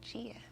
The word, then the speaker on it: Gia: Instead of the hard G sound like Gilbert, he wanted it to be the soft G, Gia.